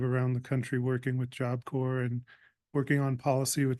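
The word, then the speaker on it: Job Corps: Apple Core um and so it's not corpse um we make sure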